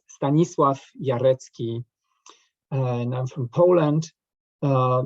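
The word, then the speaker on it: Stanisław Jarecki: okay you know me if you want to pronounce my name uh correctly then it's stanislav yaretsky and i'm from poland uh you know when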